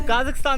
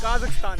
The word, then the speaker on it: Kazakhstan: तो काज़ाकिस्तान से एग्जिट करते हुए एक बात बताना चाहूँगा कि काज़ाकिस्तान की प्रोनाउंसिएशन काज़ाकिस्तान है, कज़ाकिस्तान नहीं है, जो कि मोस्टली इंडियन बोलते हैं।